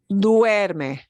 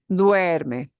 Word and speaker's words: duerme: another common diphthong sound two vowels walking together uh we pronounce them both together like uh duerme nuerme duerme okay so just so